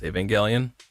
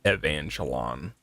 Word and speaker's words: Evangelion: which like back then when I when the second rebuild was coming out, I didn't know how to pronounce Evangelion. I thought it was pronounced like Evangelon. I had no idea.